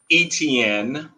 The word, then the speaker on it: Etienne: is on my hometown jacksonville jaguars uh travis etienne is how you pronounce his his last name he's a running